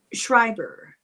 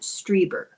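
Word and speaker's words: Strieber: Some say that uh he tapped into uh the twilight realm of grays as in Shriber and I'm sorry I pronounce his name wrong all the time. It's i.e. it's Striber um Hopkins John Mack and uh I believe David Jacobs.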